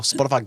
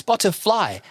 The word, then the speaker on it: Spotify: it Spotify Plus or Spotify gold or no it's spotter fly spot spotif you're not saying it right Matt it's pronounced Spotify Spotify no it's spotifly it's like a place